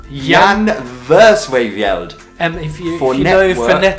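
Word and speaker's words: Jan Versweyveld: pronunciation anymore after this Yan verse way veld Jan verse favela it's Yong Yong verse wave yelled and if you never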